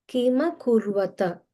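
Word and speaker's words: किमकुर्वत: Kima kurvata. So you can pronounce it like Kima kurvata Sanjaya.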